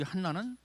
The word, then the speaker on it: 한나: 히브리어로 이 안나는 헬라어 발음이고, 그리고 이 한나는 히브리 발음이야.